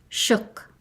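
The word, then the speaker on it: suk: Shuk, a human being, a Fognak dialect, the S is pronounced sh. It sounds like shook, but with a shorter O.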